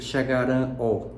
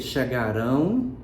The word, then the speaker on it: chegarão: eu não vou dizer chegar ó não vou dizer falar ó Eu vou dizer chegarão falarão então perceba sonoramente que